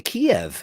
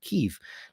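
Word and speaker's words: Kyiv: even better um but we used to go to the Kiev and then all of a sudden when the war broke out in Ukraine everybody saying keev obviously that's how they pronounce it you know it's like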